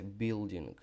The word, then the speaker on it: building: І хочу наголосити, що англомовці в словах, які закінчуються на літеру G, ми цю літеру не говоримо. Це треба, друзі, знати. Ми говоримо building, building, building, building.